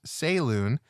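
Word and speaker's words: Selûne: StanCal9249 says, everyone's pronunciation is valid to themselves. I'm not going to hate. I personally use Saloon and was very disappointed when basically no one in BG3 said it the way I do.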